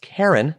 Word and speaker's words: Karan: and the article says her name is really pronounced Karin but people always said it with a glamorous continental inflection it suited their image